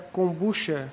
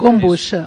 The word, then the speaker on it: kombucha: O Jorge Jacinto pergunta se é kombucha, é assim que se pronuncia? Kombucha, ou kombucha, tanto faz.